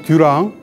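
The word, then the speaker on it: Durand: 많이 봤습니다 자 그다음에 듀랑 듀랑이라고 발음을 합니다 이것도 이제 게르만 이름에서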